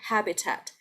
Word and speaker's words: habitat: syllables are weaker but this one is weird because both of the the you see two apps here right and both of them are strong habitat habitat habitat uh what